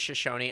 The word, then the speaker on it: Shoshone: shushon's shoe shine tribe Shoshone I think is that how you say it yeah I think it's Shoshone that's s-h-o-s-h-o-n-e yeah Shoshone Shoshone sorry everybody you